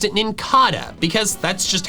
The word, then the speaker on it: Nincada: It should be Ninkada because the cada comes from cicada. And then I'm making this video and I come to find out the official pronunciation is Ninkada, despite it being a cicada. It's not a cicada, it's a cicada.